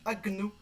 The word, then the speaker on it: agneau: Ici, on a un G-N qu'on doit du coup décomposer et prononcer agno.